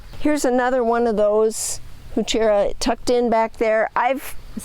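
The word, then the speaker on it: Heuchera: online, and it just says, It tells you. Huchera. Yeah. and it's like, okay, that's how you say it.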